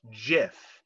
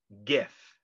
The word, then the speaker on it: GIF: to quote it's pronounced jif not gif end quote just like the peanut butter oh and then quote